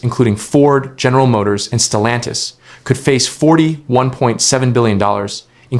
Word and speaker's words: Stellantis: Stellantis pronounced Stellantis has warned of a $3.7 billion loss in